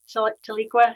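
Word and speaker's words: Tahlequah: to leak where's that taliqua is that the right pronunciation that's it it was called um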